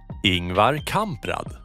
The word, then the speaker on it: Ingvar Kamprad: We went through the same debacle, and according to Wikipedia, this is how it's done. Ingvar Kamprad.